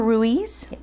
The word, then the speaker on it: Ruiz: I'm your host, and my guests today are from Destin Commons, Heather Ruiz, rhymes with cheese, and Rachel Guidry.